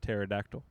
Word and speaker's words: pterodactyl: But helico meaning spiral and pur like p t e r meaning one with wings like pterodactyl pronounced pterodactyl.